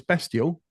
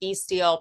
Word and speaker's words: Bestial: was be steel and I thought actually now it's bestial and I'm not really sure so now you've corrected me it's either yeah sometimes the problem can be if you say beastial people will spell it with an A so that's it's a